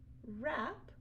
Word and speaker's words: wrap: Those are all examples of ghost letter WR. You only hear the sound. So again, it's tricky because you need to remember that there's a silent W at the beginning.